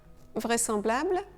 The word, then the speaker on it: vraisemblable: Et enfin, vraisemblable, vraisemblable. Dans ce cas, le S devrait vraiment se prononcer ZE, mais on prononce SE. Vraisemblable.